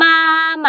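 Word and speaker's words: 妈妈: มา หมัก นะ คะ ออก เสียง พยางค์ หลัง สั้น ๆ มา มา ๆ ไอ้ ห่า ครั้ง ที่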